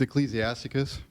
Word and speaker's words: Ecclesiasticus: And pronounce that word for me so people know what I'm talking about. 24:21. It's Ecclesiasticus.